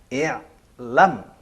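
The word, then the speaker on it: اعلم: Untuk mudah dibaca, maka diberi huruf penolong berupa alif. Dibacanya i'lam. Karena huruf tengah fathah.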